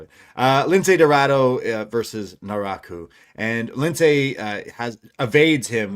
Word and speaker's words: Naraku: So now we know it's Naraku. Uh so there there you have it. Uh Lince Dorado versus Naraku and Lince has evades him with some like back flips and then a springboard crossbody.